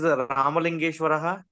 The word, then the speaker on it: Ramalingeshwarah: So can I pronounce my name is Ramalingeshwarah? Yes, Ramalingeshwarah.